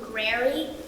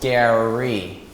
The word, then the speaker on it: Gary: Nice to meet you, Grary. I'm Oba. No, it's pronounced Gary.